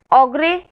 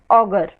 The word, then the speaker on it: ogre: Both the pronunciations are correct, ogre and augur.